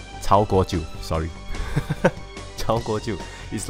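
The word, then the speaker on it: 曹国舅: So as I mentioned earlier, Zhang Guojiu, is it? Did I pronounce that correctly? Cao Guojiu, sorry.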